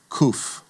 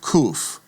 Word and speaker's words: kuf: And then we come to the letter called kof. And kof like the caf gets the hard k sound. So kuf K as in king.